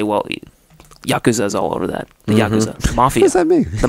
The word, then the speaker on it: yakuza: got to be yakuza or how do you pronounce it yakuza yakuza there you go yeah that's what that's